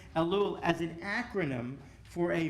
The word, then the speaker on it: Elul: familiar and that is reading elul which is the way we pronounce it elul as an acronym for